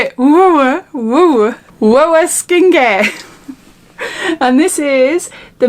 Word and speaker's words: WOAH: it is whoa it's how you say it whoa skincare and this is the mini beauty box